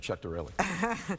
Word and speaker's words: Ciattarelli: It's great to be here, and my compliments to both of you for the correct pronunciation of Ciattarelli.